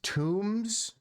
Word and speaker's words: tomb: No, it's an old joke, Camden, about English and pronunciation, like T-O-M-B, tomb, and C-O-M-B, comb. Like how the pronunciation of the ohm and the is just different arbitrarily. There's no actual rule.